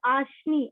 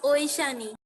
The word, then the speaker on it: Oishani: Your name is Ashni. Am I pronouncing it correctly? No, Miss, it's Oishani.